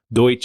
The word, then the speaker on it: Deutsch: We actually just found out that that's actually considered, talking to my grandparents, Deutsch is the way you pronounce it, and it's not Dutch at all.